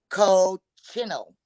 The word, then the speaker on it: cochineal: It is spelled Cocchineal. I would have to say cochineal. It's a cochineal beetle.